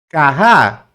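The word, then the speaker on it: כה: O H no final, ele, não, ele é mudo, não pronuncia. Né? Porque ele é como terminasse com H, então você não pronuncia ele. Então, na realidade, é carrá.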